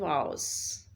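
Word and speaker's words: vows: जैसे आप वाव प्रोनाउंस करते हैं तो ये जो वाव है इस वाव का मतलब जो है वो क्या होता है, अहद करना, प्रॉमिस करना. तो वो जो हम किसी हैरानी के लिए वर्ड यूज़ करते हैं वाव, तो वो डब्ल्यू से है और ये वी से है लेकिन प्रोनाउंसिएशन इन दोनों का सेम है.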